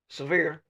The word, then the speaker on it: Sevier: How's it pronounced? Severe.